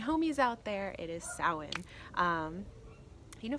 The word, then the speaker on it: Samhain: out there it is soand you know for the longest time I called the pronounced it Psalm pain which is why I love YouTube and the Internet you learn how to pronounce things correctly alright so